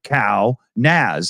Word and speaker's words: Kaunas: what they kept saying, like cow NAS, as in network address storage, Kaunas.